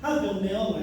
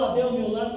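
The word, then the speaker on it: Abel-Meolá: cultivos era ali meol AB Bel meola Essa é a pronúncia correta e o nome Rola ou Abel meol como é dito aqui no ocidente quer dizer eh esperança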